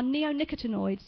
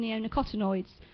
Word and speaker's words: neonicotinoids: quite some years now, are neonicotinoids, or some people pronounce them neonicotinoids.